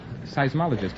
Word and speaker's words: seismologist: stupidity earthquakes is right now how do you pronounce it seismologist I seismologist you now have $125 here's your